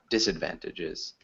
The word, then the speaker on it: disadvantages: disadvantages disadvantages or disadvantages so we'd emphasized the first syllable disadvantages yeah thanks yeah can